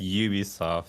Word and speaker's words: Ubisoft: name it's we'll say in Japan it's it's Ubi soft for some reason like that's how they pronounce it and I'm like have